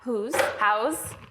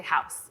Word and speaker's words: Houzz: But next up, we have Xenia Kupriyanova at houzz. This is the hardest part, is pronouncing her company. Honestly, I've been practicing all day. Houzz. I know it, I use it, but I always want to say house.